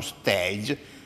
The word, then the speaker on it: stage: sapete chi S Ingles stage significa palcosenico non significa soggiorno di studio di formazione è una parola francese che va pronunciata la francese che è stage non è stage per stage significa palcoscenico